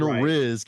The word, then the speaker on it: Rizk: It's Rizk, right? Is the Dylan Rizk is how you say it.